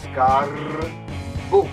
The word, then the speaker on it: Scarbu: Scarbu? No, no, no. You have to roll your R's. Scarbu.